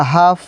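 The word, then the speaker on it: half: एल देखें लोग तो इसका रूल था अगर एल के बाद DFM या के कोई आए तो वहाँ पे एल साइलेंट हो जाएगा। यहाँ पे शुड या हाफ, वाक, पाम, यहाँ पे सब जगह एल क्या है, साइलेंट है।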